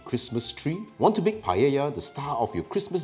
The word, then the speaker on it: paella: did you know that this Spanish dish isn't pronounced Pala or paa but rather Paya now that we've gotten it out the way that's right Paya is that one dish